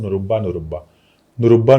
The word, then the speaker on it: नुरब्बा: नुरब्बा नुरब्बा नुरब्बा नुरब्बा नुरब्बा नुरब्बा two times you need to से नुरब्बा नुरब्बा नुरुब्बा नुरब्बा नुरुब्बा एन यू आर यू के बी ए के silent है नरब्बा नूरबा नुरब्बा ये